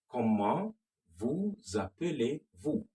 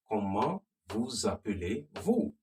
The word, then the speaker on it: Comment vous appelez-vous: Comment vous appelez-vous? Comment, remember, the T is silent.